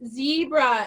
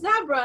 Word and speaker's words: zebra: zebra and the teacher was saying zebra, and the student was like, no, my English teacher at school says it's zebra. And he's like, no, it's zebra. And I saw a guy from Africa doing stand-up comedy in America, and he said that a lot of the words that they say differently in America, that's fine, but you guys don't have these, so we're right. We say this is zebra.